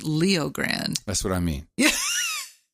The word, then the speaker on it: Leo Grande: Hey, you sit down, you get yourself some Netflix, and you turn on Joe Grande. Oh, no. With Emma Thompson. No, you got that name wrong. It's Good Luck to You, Leo Grande.